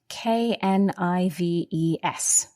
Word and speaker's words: knives: knife the plural knives there's a silent k at the beginning that's right k-n-i-v-e-s pronounced knives okay and when you